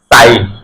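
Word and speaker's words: sign: আই আছে সে এজন্য জি এর আগে আই থাকলে তাহলে জি টা উচ্চারণ হবে না ডি ই এস আই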